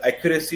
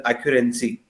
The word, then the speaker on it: accuracy: Sidi uh somewhere you are pronouncing the some words is not accurate like accuracy you are pronouncing it as an accurency and uh some words are what mispronounced and you have to improve in that presentation.